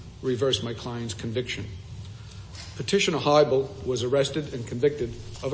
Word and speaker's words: Hiibel: am I pronouncing your client's name correctly? Your Honor, it's HIIBEL. HIIBEL, very well.